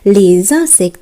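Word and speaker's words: les insectes: ইনসেক্ট কথাটি ব্যবহার করব, কিন্তু যখন লে আর্টিকেলসটির সঙ্গে এটি ব্যবহার করব তখন আমরা উচ্চারণ করব লেজ ইনসেক্ট। যেহেতু ই একটি ভোয়েল এবং তার আগের অ্যালফাবেটটি এস, তাই এটি একত্রে জেরের ন্যায় উচ্চারণ হবে।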